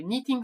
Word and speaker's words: Knitting: Euh, c'est la Olive Scarf de Knitting for Olive, de Knitting, pardon, on prononce pas le cas, de Knitting for Olive.